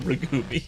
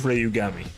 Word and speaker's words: Rayugami: That was our very impromptu last minute night range stream where I accidentally called him Ragumi instead of Rayugami. I know how to say it now.